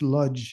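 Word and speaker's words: Łódź: in in Poland uh I think it's pronounced ludge in English and I anyway um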